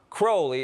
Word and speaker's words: Crowley: Some people pronounce his name Crowley and some Crowley. In his own writings, he said it's pronounced Crowley, it rhymes with holy.